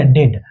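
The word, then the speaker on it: dead: अब यहां पे डी का उच्चारण ड से इ ए रूल को नहीं मानता है। ये बोलता है कि मैं इ ए का उच्चारण मैं इ ए का उच्चारण बड़ी ई से नहीं करूंगा। मैं किससे करूंगा? ए से करूंगा।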